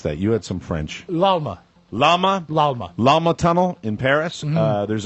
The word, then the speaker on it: Pont de l'Alma: Lalma. Lalma Tunnel in Paris. There's a poster for the upcoming Princess Diana movie outside the Pont de l'Alma.